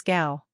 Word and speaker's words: Tgau: Pronounce Tgau as Gao.